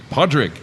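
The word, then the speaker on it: Pádraig: the Irish Gaelic name I don't know how to say this here poor dragon Podrick exact okay so is that how you originally say it yeah so essentially that's the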